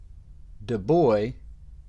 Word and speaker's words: DuBois: I made note of the pronunciation of the name de boy is what it said on the website like d u and then boy because I had a